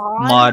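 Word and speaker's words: Maude: weird m-a-u-d-e mod i don't know how to pronounce that properly well that's that's it yeah it's mod and edmond is the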